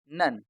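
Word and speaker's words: none: इसमें ओ भी साइलेंट है और ई भी। इसको हम कैसे पढ़ेंगे? नन।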